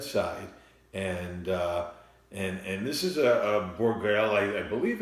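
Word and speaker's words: Bourgueil: So the most popular wine tonight was coming from an area in the Loire Valley of France, and this area is pronounced Bourgale, and there's also a couple of other areas in the region of Loire Valley.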